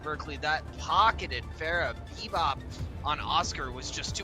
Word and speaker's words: B-Boop: And for those of you wondering if we are able to read or not, I know it is spelt B-Boop, but they say it is pronounced Bebop, so you just gotta trust us with it.